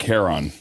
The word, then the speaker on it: Charon: And I think you meant Charon. The christening of the Charon. I can't pronounce any words. I butcher all words. So in the Greek mythology, the CH is pronounced like a K.